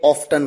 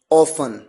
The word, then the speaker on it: often: यू, इसे कई लोग ऑफन कहते हैं, कई ऑफ्टन कहते हैं। मेरा अनुभव है, ब्रिटिश कस्टमर्स के साथ मैंने कई बार बात की, वो अक्सर ऑफ्टन कहते हैं, और American people they use ऑफन एज अ pronunciation.